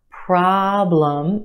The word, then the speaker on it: problem: another one problem problem two syllables in this word our first syllable is emphasized the aah problem is stretched and emphasized in the first syllable our second syllable is where you have your schwa love no problem problem